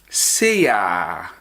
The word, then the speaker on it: sei ara: Ghanaians in the public, you will never hear seyara or saara. You will only hear seya and sa. So take note of that. We pronounce them seya and then sa.